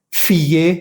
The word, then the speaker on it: fier: Vas a pronunciar bien la ER.